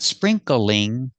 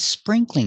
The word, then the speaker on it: sprinkling: Not sprinkling, not 3 syllables, 2 syllables. Spring, cling. It's sprinkling outside.